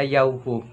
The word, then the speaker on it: Yahweh: Ito po ay aming pinopronounce na Yahweh.